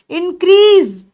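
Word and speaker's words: increase: plus लिख रही हूं इंक्रीज इंक्रीज ठीक है और ये स भी हो सकता है और ज भी हो सकता है इंक्रीज वैसे ज ज्यादा साउंड इंक्रीज ना बोलकर इंक्रीज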